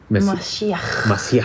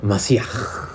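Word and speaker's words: מָשִׁיחַ: Es Mashiach. Tienes que sentir, siempre que hables en hebreo tienes que sentir que te... Mashiach. Que te limpies la garganta.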